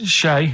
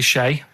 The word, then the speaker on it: Che: Shay is like shake and his his surname is like guitar, right?